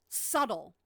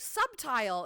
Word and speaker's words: subtle: up with words um subtle subtle is a good one subtile is how it is how it's spelled so I'll have people periodically I'll be in conversation and they'll be like subtile and I'll be like you mean subtle and they'll say no